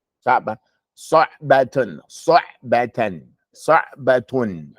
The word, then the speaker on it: صعبة: Don't go samba. Saba.